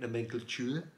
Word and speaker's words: nomenclature: That is how you say it, nomenclature.